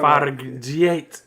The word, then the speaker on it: Fargeat: Fargeat.